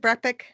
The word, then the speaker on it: BrEpic: Yeah, did I say that right? Is it BrEpic? Right? Yeah, it's interesting because people never say it right, but you did.